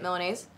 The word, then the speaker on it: Milanese: cheesy chicken Milanese is how you say it Milanese that sounds really good honestly I wanted a